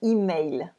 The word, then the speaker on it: email: with the French pronunciation, email. Email.